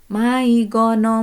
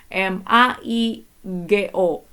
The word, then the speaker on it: maigo: nyanyiin maigono maigono kone kocang anatano oiwa do kode suka